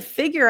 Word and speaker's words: figure: figure GE G so here the u sounds like an IU like Museum figure fig so it's not figure figure but F like it figure gear e figure and then the r